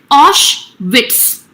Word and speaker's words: Auschwitz: his father into Auschwitz its pronunciation is Osh wits okay so what is